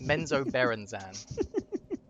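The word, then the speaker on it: Menzoberranzan: Menzo Berenzan is how you say it.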